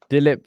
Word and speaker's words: Dilip: His first name rhymes with tulip. I'm not sure, Dilip Vengsarkar.